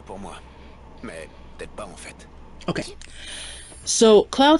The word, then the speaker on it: en fait: we say in fact, we're going to say en fait.